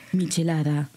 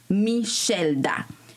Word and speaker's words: Michelda: Comment il l'avait prononcé? Michelada, ou Michelda, quelque chose comme ça. Puis j'étais comme... Je l'ai regardé là, dit... Quoi? On était en live. Oh my God. Puis j'étais comme... Perdón, no me llamo Michelda. J'étais comme... Oh no. ¿Y cuál es tu nombre? ¿Cómo se pronuncia? Michelda.